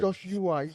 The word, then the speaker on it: Joshua: Joshua, 3 syllables.